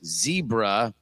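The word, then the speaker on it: CEBRA: trained a machine model called zebra that is pronounced zebra but it's looks like sebra because it starts with the c to link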